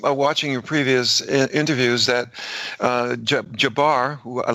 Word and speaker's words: Jabbar: Am I pronouncing his name right? Jabbar or Jabbar? Jabbar.